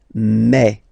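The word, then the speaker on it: mes: aspect of it then remember that this a s here combined will give you the sound e okay so you'll pronounce it like me me me okay the so logical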